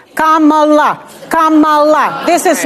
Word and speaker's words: Kamala: by the way let's start with that let's pronounce this Kamala Kamala Kamala this is not Kamala which they say on purpose but that's okay